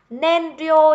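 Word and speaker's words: 燃料: Nhưng mà nhiên liệu thì chỉ đọc là nên thôi ạ. Nên rio nhá các bạn nhá.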